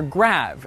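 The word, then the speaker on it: grave: the answer is great or rather grav as it would have been pronounced in the original French you see the graph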